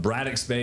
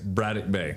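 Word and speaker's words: Braddock Bay: And you brought up Bradex Bay is what we all but it's Bradic Bay.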